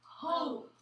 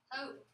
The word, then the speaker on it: hope: E is silent. Makes the O say O. Practice. Your word is? Hope. Hope. I don't hear you, Stephen. I need you to practice with me. Hope.